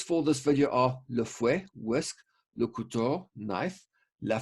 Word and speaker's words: fouet: When you say the word fouet, you don't pronounce the T.